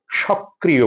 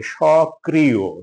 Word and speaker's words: সক্রিয়: সক্রিয়, সক্রিয়, আমরা প্রায়শই ভুল করে এটাকে সক্রিয় বলি, মানে কটাকে 1.5 বার উচ্চারণ করি, মানে দ্বিত্ব উচ্চারণ করি। এটা কয়ের 2 বার উচ্চারণ হবে না, কয়ে রিকার হবে, সক্রিয়, সক্রিয়, সক্রিয়।